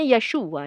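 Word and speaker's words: ישוע: Yod, Zin, Vav, Ayin ya. Teman-teman lihat nih Arabiknya. Tapi ya dibacanya Yeshua ya.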